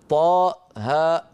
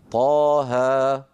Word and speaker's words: طه: لا نقول طاء هاء بل نقول طاها.